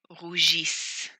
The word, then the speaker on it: rougissent: Please note you never pronounce the ENT. So the right side would be pronounced ils issez, is. Ils issez, is. For example, rougissons, rougissez, rougissent.